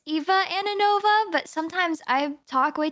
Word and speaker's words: Ananova: Um, so technically it's Eva Anova, but sometimes I talk way too fast and it makes me slip up.